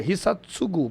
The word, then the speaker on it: Hisatugo: O certo é Hisatsugu, porque no japonês não existe o tu, e sim o tsu. Seria o TSU. Tá, então mas Hisatsugu.